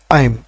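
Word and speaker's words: I'm: সবচেয়ে বেশি ব্যবহার হয় তবে সঠিক উচ্চারণ হচ্ছে আইম আইম আইম তবে আম বললে ভবে না।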